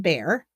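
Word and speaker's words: Bair: at halfast 7:00 by William bear not not spelled the same b a i r but she was sound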